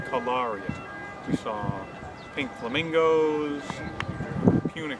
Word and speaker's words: Cagliari: We've been saying it wrong the whole vacation, but it's Cagliari.